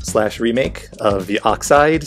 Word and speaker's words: Oxyd: This is a free open source and an enhanced port / remake of the Oxide series of games. That's spelled OXYD.